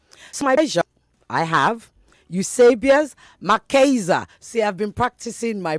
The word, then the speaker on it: Eusebius McKaiser: Eusebius, did I get that right? I was trying not to do Niger on it or British for that matter. That was perfect. You got it right the first time we spoke on the phone.